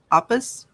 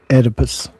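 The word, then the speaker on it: Oedipus: Oppus Op. Edipus. Edibus. See, the O is silent.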